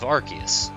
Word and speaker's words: Arceus: Because his ability is based off of Arceus, so it's RKS system. I know I've heard people like debate it, but I feel like because of Silvalley existing now, it's the debate's over. Yeah, Arceus, that's another one I've heard.